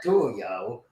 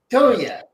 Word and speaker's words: Tulia: Not Tulia. Tulia. Tulia, yep. You got to pronounce it the way they do in the Panhandle.